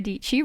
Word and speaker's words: Dietschy: But hello, my name is Sara Dietschy, rhymes with Peachy.